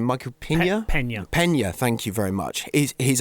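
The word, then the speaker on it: Peña: of the film The other thing is Michael Pina I think and forgive my pronunciation Michael Pina Pena Pena thank you very much he's amazing he's in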